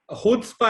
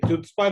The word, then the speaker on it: Chutzpah: गए थे जब हमको सी साइलेंट है. खुदस्पा. हाँ खुदस्पा. हमको भी नहीं पता था. मैंने भी पहला सवाल ये था अगर साइलेंट है तो लगाया क्यों. तो उसका मतलब हम लोग सारी जिंदगी गलत प्रोनाउंसिएशन ले रहे हैं. यस, हमें भी अभी समझ आया कि यार ये तो खुदस्पा है, ये चुत्स्पा नहीं है, ये खुदस्पा है.